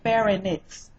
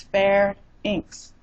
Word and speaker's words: pharynx: syllables two or three look at the word pronounce it the way it's spelled but most people say fairy Nick's it's not fair in